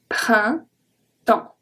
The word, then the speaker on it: printemps: So, le printemps, printemps, printemps. I-N makes the sound un, un, I-N, un. E-M makes the sound en, en, exactly like E-N.